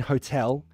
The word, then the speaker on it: hotel: go away so hotel the final l in hotel should be a dark l right the l is at the end of the word so i don't have